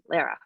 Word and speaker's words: Lara: And people love to call me Lara, but the easiest way for me to pronounce it is to say it's Sarah with an L, Lara.